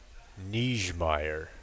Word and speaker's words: Niggemeyer: It's okay if you drop the r at the end.